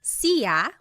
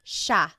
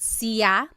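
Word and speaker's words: siya: It looks like it should be pronounced sea, but it's actually pronounced sha sha. There are some regions in the Philippines that might pronounce it sa but for the most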